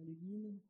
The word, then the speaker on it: Le Guin: Pamela Sargent, mais il y a évidemment Ursula Le Guin, ou Le Guin, comme certains le prononcent, puisque le nom était d'origine française, avec